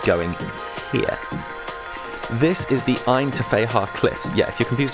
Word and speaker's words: Ggantija: But I made a point of asking the cab driver about the pronunciation of this, and while I can confirm the G is silent, the rest, you're on your own.